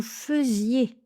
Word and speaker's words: faisiez: Donc voilà, notez-le bien, c'est un des rares cas où ai se prononce eux.